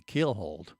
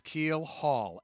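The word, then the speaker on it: keelhaul: One of them be keelhold.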